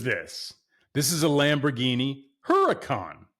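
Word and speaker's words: Huracán: Have you guys heard people say Urkan Lamborghini Urakan? Urkan. Like I get it if you know if that's your accent to pronounce the word Huracan.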